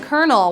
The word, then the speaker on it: colonel: answer we're looking for is lieutenant colonel lieutenant colonel one of the top rankings in the Army